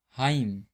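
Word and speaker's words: hymn: किसी वर्ड में एम और एन दोनों एक साथ आते हैं तो एन जो है साइलेंट होता है। जैसे यहां पर देखते हैं एम और एन साथ में आया हुआ है। तो यहां पे जो एन है साइलेंट है जैसे आटम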